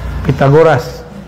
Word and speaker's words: Pitagoras: Kita kan nyebut pita ya, salah itu pakai ta. Pitagoras. Ini versi Arabnya. Kalau versi Sundanya pi. Pitagoras.